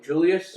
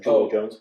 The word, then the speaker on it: Julio Jones: Julius. Julio Jones. Properly pronounced Julio Jones.